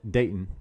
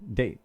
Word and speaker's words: Dayton: If you're from Dayton they pronounced it Dayton. Dayton. They said you have to make it sound like your tongue's numb.